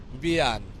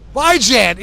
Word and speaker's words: Bijan: Bijan. And he watches football. Bian. Bijan? Bijan. Bijan? Bijan. So how do you pronounce this name? Bijan. Like Dijon mustard.